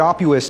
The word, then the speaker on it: Opus: Denver Colorado so what Opus does pronounced like octopus is we are a